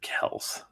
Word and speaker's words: Kelce: think at one point I think Travis said that on New Heights that it was they pronounce it Kells foreign how to pronounce